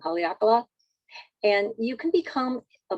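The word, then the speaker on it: Haleakalā: they always say i always say it wrong haleakala and you can become a member of our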